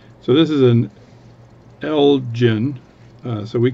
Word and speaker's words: Elgin: Oh, that's Ottawa with the Elgin Diner. So anyway, this is an Elgin, but people are saying it's pronounced Elgin for the watch company. So I'll call it Elgin just to make so I don't get any comments.